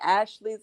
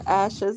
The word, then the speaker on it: Asha: It's always like, okay, Ashley's in the chat or Asha's in the chat. But it's pronounced just Asha J. yeah, yeah, Oh, I guess I got close. Asha. Yeah, that's exactly what it is, Asha.